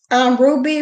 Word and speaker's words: RWBY: turned me on to called Ruby, which is spelled WRWBY, and as a character named Coco.